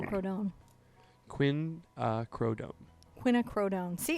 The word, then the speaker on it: Quinacridone: It's Quin, Crow, Don. Rodone. Don. Quinacridone.